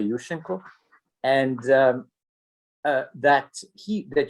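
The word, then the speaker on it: Yushchenko: was overthrown by you let me pronounce the ukrainian way yushenko and um that he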